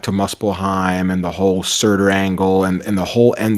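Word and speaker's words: Surtr: one of my friends Suture, but I think it's Surtur. I think it's Surtur. I think you were right. What'd you guys think about going back to Muspelheim and the whole Surtur angle and the whole end of Ragnarok?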